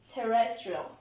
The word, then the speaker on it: terrestrial: Okay, can anybody tell me where is the stress of this word? Right here? Okay, Melissa? Very good. After the first syllable, after terrestrial, okay? Te is the stress of the word, terrestrial. Very good.